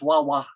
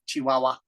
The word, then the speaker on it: Chihuahua: very funny nice reading I love how you say chiah in in Spanish it's just waah wa like that waah wa Chihuahua it's a cute name